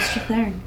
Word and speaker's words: Strathairn: So did I, but I've been looking up how to pronounce people's names. Oh, good. And yeah, David Strathairn.